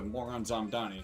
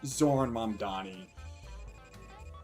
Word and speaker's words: Zoran Mamdani: All thanks to Moron Zamdani. Sorry, Zoran Mamdani. So I mispronounced his name a little.